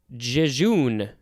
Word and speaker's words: jejune: synonym is a word i do not know i am going to pronounce it this way jejune j-e-j-u-n-e apologies if i completely butchered a word that you are very familiar with aridity is a